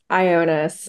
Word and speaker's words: Ioanes: and I apologize, is it Jonas? I'm probably mispronouncing your name. Can you correctly pronounce your last name and tell us your affiliation? Yeah, it's Ionis, but I'll kind of take anything.